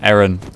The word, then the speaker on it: Aaron: Aaron. Erin, sorry, that's how he pronounces it. Um, we have similar names, but we pronounce them differently.